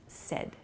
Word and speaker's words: said: at the party okay please be careful of your pronunciation with the word said a lot of people i've heard use said say it is not correct so please use sed it sounds like s-e-d the pronunciation but it's said s-a-i-d is the spelling say becomes said she